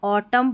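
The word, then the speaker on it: autumn: अब जब भी कोई स्पेलिंग रहेगी उसके लास्ट में MN रहेगा, तो यहाँ पर N साइलेंट रहता है, तो इसको हम ऑटम पढ़ेंगे, ऑटम, न का उच्चारण नहीं, यानी N को नहीं पढ़ा गया है।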